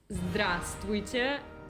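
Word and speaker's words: здравствуйте: Julia: Yes, the word "good morning" is "zdrastvujte", if we really want to say almost any letter, but most people say "zdraste" to you, so the middle part doesn't exist.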